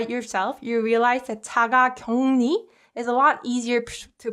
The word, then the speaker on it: 자가격리: So when uk is combined with 르, this uk softens to 응, and 르 gets replaced with 느 sound.